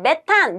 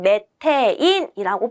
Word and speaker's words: 메테인: 4번 자 문제 보시면 메탄 메테인이 완전 연소할 때의 연소 생성물을 옳게 나열한 것을 써 보랍니다 과거에는 메탄이 불렀지만 우리 현재는 메테인이라고 불러 주시는 것이 어 더 정확한 우리 현대식 발음이 되겠습니다 아시겠죠 명칭이에요 자 메탄을